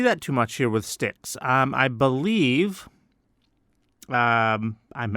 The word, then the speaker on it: Styx: a long time uh sticks that is spelled Styx by the way not sticks like s i c k s no ST YX sticks they have been around